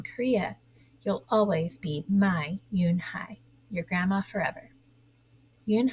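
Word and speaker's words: Unhei: he asked her with his eyes open wide Yoon Hai looked quickly at Mr Kim then turned to Joey she nodded slowly yes it's pronounced Yoon Hai and it means Grace Mr Kim added Yoon hi Joey said slowly and this time perfectly it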